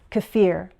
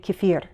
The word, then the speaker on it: kefir: The dictionary shows 3 variations: kefir, kefir, kefir. I think my pronunciation has been influenced by Russian, so I tend to say kefir.